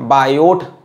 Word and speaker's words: Biot: बायोट लिखा होता है किताब में, टी लिखा होता है तो टी साइलेंट होता है।